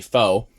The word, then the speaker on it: faux: I wonder if that's a play on faux flame, which is spelled like if you sound it out, it sound it looks like Fox, but it's actually faux.